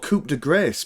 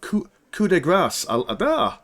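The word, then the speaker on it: coup de grâce: how you pronounce I I always thought it's called Coupe De Grace but coup de grace looking at what we're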